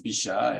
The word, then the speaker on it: Bichat: And Harriet, your French pronunciation was just great. Bichat is Bichat, and it's really, that's the way to pronounce it.